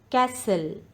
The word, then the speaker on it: castle: word is k knowledge castle t is the silent letter in this word castle knife the letter